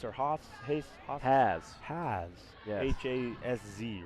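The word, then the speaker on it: Hasz: Is it Hayes or Haas? Hayes? Haas? Has. Yes. H-A-S-Z, right? Yes, the Has. Z is silent.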